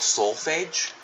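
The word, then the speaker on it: solfège: hold on sneeze excuse me um it's called soulage I me that's how you say it it's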